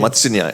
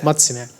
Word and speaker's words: Matsya Nyaya: Yeah, is that pronunciation? Matsya Nyaya. Matsya Nyaya.